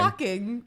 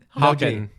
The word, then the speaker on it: Hawkins: Hawking. Hawkins.